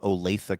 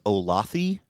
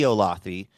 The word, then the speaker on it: Olathe: It looks like it's Olathe. Mm-hmm. It should be Olathe, but it's not.